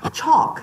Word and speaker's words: chalk: 근데 여기서 L 발음이 안 나요. 일단 보세요. 이렇게. chalk. 시작. chalk. 엘바로 안 됩니다.